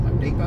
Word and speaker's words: Home Depot: over there that home Home Depo or Home Depot if you want to pronounce it like that and the magn